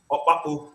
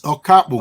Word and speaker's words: Okapu: So, Mr. Opapu, did I pronounce that correctly? No, you mix it up. It's Okapu.